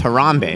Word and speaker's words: Harambee: a little bit about the genesis is it Harambee is that how it's pronounced yeah harambe rhombic that became the name